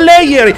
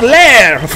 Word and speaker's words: lair: english that word is not layer it's not liar it's lair it